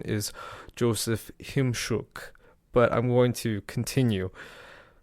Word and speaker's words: Chimczuk: He told me the correct pronunciation is Joseph Chimczuk, but I'm going to continue.